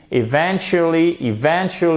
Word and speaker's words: eventually: We eventually avec votre accent tonique.